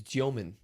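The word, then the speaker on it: Demin: I started calling him Deon by the way. He told me his name is Gman. Gman. really Russian. They pronounce it.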